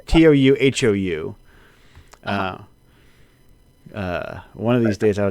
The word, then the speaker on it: Touhou: it's the one with it's not Toho, it's like To, like it's got an long. Touhou.